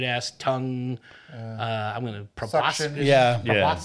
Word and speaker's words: proboscis: I'm going to proboscis.